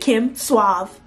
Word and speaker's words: Kim Suave: suave back then yes that's how I pronounce that Kim suave okay I don't know